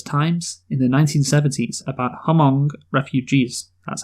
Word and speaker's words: Hmong: the Los Angeles Times in the 1970s about Hmong refugees, that's how you pronounce it for sure, who, after fleeing to